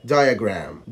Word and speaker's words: diagram: واخيرا حرف الاي لو جه بعديه حرف الاي ساعتها هتنطقه يا يا يا زي كلمة triangle triangle triangle triangle، وزي كلمة diagram diagram diagram بالشكل ده.